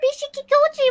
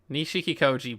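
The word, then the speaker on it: Nishikikoi: off through the crowd what impressive coloration Mr Bishi kikoi was a very strange fellow wasn't he I think she got the name wrong again yeah nishik kikoi blow it's a confusing name so you're so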